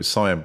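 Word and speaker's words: Siân: So for your listeners that don't know, Cyan Blake, people keep picking me up on that it's Cyan. Yeah, she called herself Cyan. It's spelt Sean.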